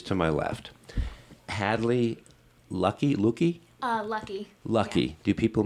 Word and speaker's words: Luckie: Lucky. Lucky. Yeah. Do people mispronounce your name?